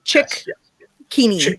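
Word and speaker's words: Cicchini: a chat with michael chikini have i got pronunciation right yes chick keaney yes yep yep yeah yeah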